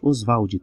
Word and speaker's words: Oswald: Oswald, tá? Ele pedia que fosse pronunciado assim, porque isso lembrava a brasilidade dele, Oswald.